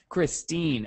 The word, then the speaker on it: Christine: Kristen, did I pronounce it right? It's Christine or Christy. Christine.